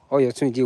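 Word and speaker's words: Oyotunji: Oyotubji welcomes you. Yes, I said Oyo. That's the pronunciation.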